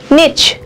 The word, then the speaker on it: niche: উচ্চারণটা নিচ হয়, NICHE, নিচ, ইকোলজিক্যাল নিচ।